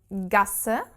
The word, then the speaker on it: Gasse: this s set following for example um gasser which is also a sort of streak but narrower smaller in this case we have a double s after the a and that makes the whole r sound very short so we have strasse